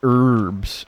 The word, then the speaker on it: herbs: Like people get on American because we say herbs instead of herbs. And it's like is the concept of a silent letter like so unheard of?